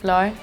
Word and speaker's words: flor: But the R is like an H sound. The Portuguese, flor.